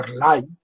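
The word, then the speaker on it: R'lyeh: también de nombre impronunciable se escribe el guión y se pronunciaría algo así como airlines esa isla se hundió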